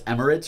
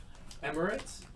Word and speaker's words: Emirates: Tommy Bowers was making fun of you for how you mispronounce Emirates or something like that. Emirates? Yeah. E-M-I-R-A-T-E. Yeah, he said you said it weird. don't think so. I said it Emirates.